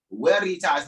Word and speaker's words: Veritas: Veritas, because in the Latin, right, the V is pronounced with the W sound, all right?